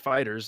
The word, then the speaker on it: FighterZ: mad when you say Fighter Z because they're like it includes Dragon Ball and super stuff not just Z they probably thought about that well it's just pronounced fighters it's cuz the logo